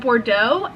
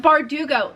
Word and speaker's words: Bardugo: six of crows by Leah Bordeaux I don't know if I'm pronouncing that right I feel like I'm not B bardugo bardugo Lee bardugo yes so I bought this